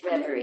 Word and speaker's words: Reverie: How do you spell it? Yeah, it's REV. REVAREE. Referee? Yes, Reverie.